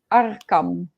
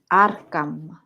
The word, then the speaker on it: Arcam: Arkham. Arkham. Yeah. Arkham, like the psychiatric in the comic.